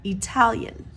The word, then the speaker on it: Italian: pronounce it Italy however Italian the a is stressed after the T so it becomes a Italian Italian I hope this helps